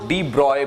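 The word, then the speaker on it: de Broglie: ठीक, तो इसके ऊपर डी ब्रॉगली जिसको डी ब्रॉय प्रोनाउंस किया जाता है, इन्होंने इसको एकदम क्लियरली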